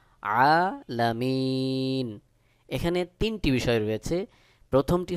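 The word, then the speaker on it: العالمين: যদি আপনি থেমে যান এক আলিফের জায়গায় তিন আলিফ টান দিয়ে পড়তে হবে সহি উচ্চারণ হলো আলামিন আরেকটি বিষয় জেনে নিই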